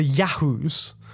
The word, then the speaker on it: Yahoo: The rulers of the Yahoos, and you have to say it like that, Yahoo.